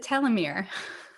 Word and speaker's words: telomere: was going to say, I think that I look at that and pronounce it telomere.